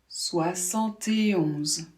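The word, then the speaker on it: soixante et onze: 71. Ici, la particularité, c'est qu'on ne va pas dire « et 1 », mais « et 11 ». On doit bien prononcer ce « et ».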